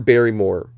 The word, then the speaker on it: Barrymore: kane and starring drew barrymore rhymes with fairy more very i don't know